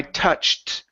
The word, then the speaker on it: touched: the CH sound I touched I touched the edge I touched I I touched okay tou yeah give me that CH there you're saying a little bit of an sh saying touched okay so it's ch I